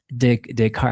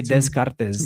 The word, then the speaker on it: Descartes: It's like, it's like my brain doesn't want to accept it. It wants to say descartes.